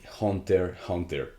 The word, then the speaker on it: Hunter × Hunter: benefit immensely from watching Hunter x Hunter. The X is silent.